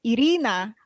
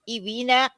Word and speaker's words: Irina: too that's the thing when i used to say my name is irina people are like ivina ivina e-e-e-e-e-e-e-e-e-v urine i